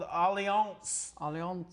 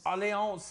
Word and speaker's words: Allianz: We have an annual plan through a company called Allianz. Allianz. It's kind of spelled like alliance with a Z.